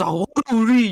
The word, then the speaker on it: ZawarudoWrrryy: It's pronounced ZawarudoWrrryy, you fucking shit.